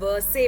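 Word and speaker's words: Versailles: सारी ceremony palace of वर्से में हुई ठीक है पैलेस ऑफ वर्से में ये आर साइलेंट होता है यहां पे एल बी साइलेंट होता है सो वसले वर्से जो है ये फ्रांस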